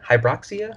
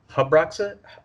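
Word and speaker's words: Habroxia: you're talking about yeah that pronunciation is a little I think it's hub rocks it or hydroxy ax h a b ro x i huh Brock SIA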